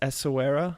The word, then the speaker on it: Essaouira: It's Essaouira, I think, but if you say it with a French accent, that's correct, Okay.